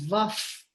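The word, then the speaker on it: Vah: Om Namo Vaf, pronounced Om Namo Vaf, which is V-A-H, because it's followed by a pa sound, P sound.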